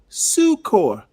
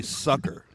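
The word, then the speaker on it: succor: I actually he has to Google Tell Hey, sucor. Sou say it in that pitch. It's actually sucker. Both pronunciations are correct.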